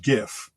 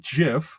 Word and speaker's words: GIF: you know it's pronounced gif it's graphic with a hard g it's not jif like as if it's